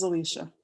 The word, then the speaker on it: Zalisha: and is it Zalisha? Is that how you say it? Yes, Zalisha.